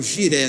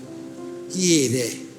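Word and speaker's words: Jireh: As pessoas chamam giré, não é? Mas a pronúncia no hebraico é um Y. Ieré.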